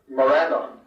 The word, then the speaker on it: Morannon: Similarly with the long N's in names like Morannon, Pelennor, where I think that Morannon, Pelennor is certainly acceptable and probably best.